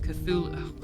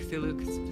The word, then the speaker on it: Cthulhu: Cthulhu.